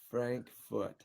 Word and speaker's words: Frankfurt: would say that but Frankfurt is the English way so wait how do you say it Frankfurt Frank foot it's more like an ah so Frank foot yeah that's correct yeah